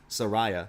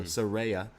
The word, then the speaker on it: Saraya: right we go to Saraya is that how you say it yeah say her name right she makes it very clear she wants us all to make sure they're not calling her Soraya so Saraya the name she comes